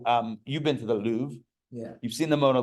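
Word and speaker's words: Louvre: it's like I don't know go to the lou that we pronounce it the Lou and you I get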